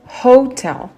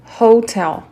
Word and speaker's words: hotel: Donc pour le mot hôtel, hotel, c'est aspiré, on le prononce comme ça.